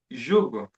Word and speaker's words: jugo: In the in the first part of the verse, it is jugo.